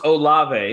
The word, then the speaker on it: Olave: hear it uh chris oliveira is that you pronounce the name it's olave it makes it perfect however he said it